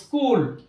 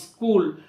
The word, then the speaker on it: school: এরকম কিছু শব্দ যেমন স্কুল, SCHOOL, এখানে সিএইচটাকে আমরা কয়ের মতো উচ্চারণ করলাম স্কুল, বাট এখানে আগের যে দুটি নিয়মের কথা বললাম সেই নিয়ম কিন্তু এখানে ফলো করা হচ্ছে না। স্কুল, কেমিস্ট্রি, সিএইচ দিয়ে স্টার্ট, কেমিস্ট্রি, কেমিক্যাল, স্টোমাক।